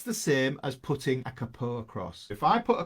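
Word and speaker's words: capo: same as putting a Kapoor across if I put a Kapoor cross there not careful guys I know you Americans like to say it wrong so we got this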